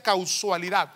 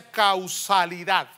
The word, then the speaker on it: causalidad: más bien hermano casualidad no se pronuncia casualidad se pronuncia causalidad yo estaba un poquito